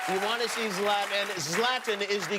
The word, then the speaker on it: Zlatan: the stubhub center you want to see zlatan zlatan is the correct pronunciation yes love them thank you very much